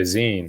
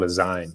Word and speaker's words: zine: how to pronounce it i thought it was called design because i like didn't even know you know i never heard anyone say the word zine before and i just went